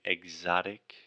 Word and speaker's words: exotic: okay so two times alexia mispronounced the word exotic exotic um so she was saying ek but imagine you were saying exotic like you were saying the word egg almost like and then exotic exotic exotic okay in cairo